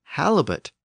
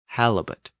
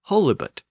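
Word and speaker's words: halibut: pronounced with a long o sound holy but halbot is pronounced with a short a sound halet theoretically it should be pronounced holit but it's a three- syllable word and over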